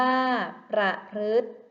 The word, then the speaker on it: ประพฤติ: ทะเล ขนาด ใหญ่ ค่ะ ข้อ ที่ 4 คำ ว่า ประพฤติ สระ ตัว ใด ที่ ไม่ ออก เสียง คะ ถูก ต้อง ค่ะ สระ ที่ ไม่ ออก เสียง คือ สระ อิ ค่ะ และ คำ ว่า ประพฤติ